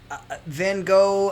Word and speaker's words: Van Gogh: Or Van Gogh, as you weird Brits pronounce it. Van Gogh, I like because...